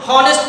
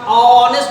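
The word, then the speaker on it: honest: बहुत सारे लोग इसको हॉनेस्ट पढ़ते हैं, हॉनेस्ट ह से, लेकिन ह से नहीं होता माय डियर, प्रोनाउंसिएशन इसका ऑनेस्ट होता है, अ से।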